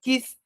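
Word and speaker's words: Keith: A pessoal aqui no Brasil fala Kate, mas a pronúncia certa é Kith Philips. K E I T H.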